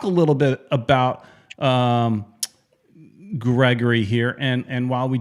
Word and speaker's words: Gregore: pronunciation so i as as i understand it is gregory so right so it's gregory gregory he says gregor yeah that's what the